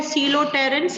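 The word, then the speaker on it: Coleoptera: तो ये है सीलोटेरेंस, पी साइलेंट है, सीलोटेरेंस, लेपिडोटेरेंस एंड डायटेरेंस, ठीक है?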